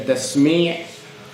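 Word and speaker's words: تسميع: Then tasmi' also has an ayn at the end, sami' Allahu liman hamida. That is the correct pronunciation of how it would be said in Arabic.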